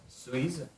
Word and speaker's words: Suisse: je suis suisse et j'ai 29 ans. Très bien. On dit Suisse. Suisse. Suisse. Suisse. Pas z.